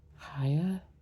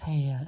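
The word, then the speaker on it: Haigha: His name is, let's see, he pronounced it so as to rhyme with mayor. Haya?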